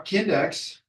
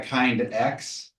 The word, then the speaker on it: Kindex: It is pronounced Kindex, the index of your kin. Someone came up to me at RidgeTech once and they said, I wish I had a kind X.